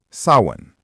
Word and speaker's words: Samhain: Halloween's origins go back thousands of years to an ancient Celtic festival called Samhain, pronounced sawin.